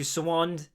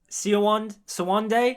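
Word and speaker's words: Siuan: And with the Moraine POVs, we also get introduced to Sawand, Sawande? I think it's Sawand, at least that's how they pronounce it in the show.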